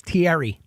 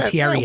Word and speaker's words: Thierry: Especially if you say his name wrong to him. What's his name? It's Thierry. You keep saying Thierry.